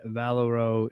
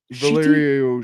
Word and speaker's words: Valerio: Number 12 by Chip Sedarski and Valero. Shitty. Valerio.